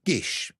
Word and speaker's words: gish: So that it it it can be pronounced like this gish.